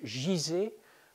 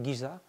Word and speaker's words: Guizeh: Voilà, bon, certains écrivent Gizeh. Moi, je préfère Gizeh parce que c'est comme ça qu'on prononce en arabe. Et c'est aussi en anglais Giza, etc.